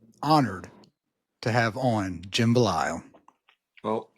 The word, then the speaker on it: Belisle: and I am honored to have on Jim bile well it's an honor to be here you